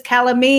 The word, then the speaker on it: calamy: for the longest time I have been mispronouncing your last name it is calamy yeah all right now